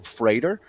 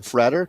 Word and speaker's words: Frater: the united states and i think he pronounces his last name freighter rather than freder just looking at this new uh so i'm actually using my tools here and jonathan frater because it says freighter like a freight train so i'm thinking i've